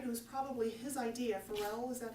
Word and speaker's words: Pharrell: It was probably his idea, Pharrell, is that how you say it?